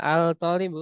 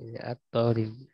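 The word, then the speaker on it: الطالب: Misalnya al-tolibu kan nggak enak dibacanya. Al-tolibu. At-tolibu.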